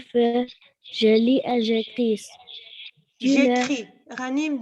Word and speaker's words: écris: J'écris. Ghanim, don't pronounce the S. Ne prononce pas le S.